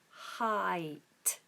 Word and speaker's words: height: height so we just have a diff thong in the middle there i i a diff thong for those of you who don't know is two vowel sounds merged into one sound I I height height so we just have this nice open H at the beginning and aspirate H not constricted is what I hear